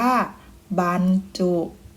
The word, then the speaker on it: บรรจุ: การ ไกล นะ คะ บรรจุ จะ เอา ใบ ไม้ นะ คะ มา แทน เอา อ่าง นะ คะ บ่ ใบ ไม้ ก็ จะ เป็น บ่ อะ นอ บ้าน นะ คะ อ่าน ว่า บรรจุ ต่อ มา ดู อีก